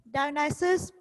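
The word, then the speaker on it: Dionysus: इसकी pronunciation students बहुत important है, डायनाइसिस।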